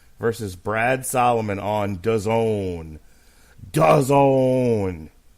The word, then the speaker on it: DAZN: DAZN. What does it rhyme with? Calzone.